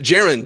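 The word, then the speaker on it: Jarran: Yeah, I'm glad that you pronounced it Jaron, too, because that's the correct pronunciation.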